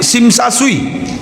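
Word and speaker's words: Tsim Sha Tsui: Nama masjidnya Masjid Sim Sa Sui. Ya, Tesim, Tesa, Tesui tulisannya. Dibacanya T-nya hilang, Sim Sa Sui.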